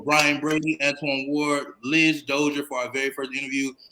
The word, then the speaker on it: Dozier: this is my video my last name is pronounced dozier so dozier and then my first